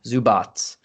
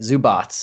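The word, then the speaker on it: Zubac: yeah you mentioned uh zubats that's how you say it zubots i got it right this time i'm not huge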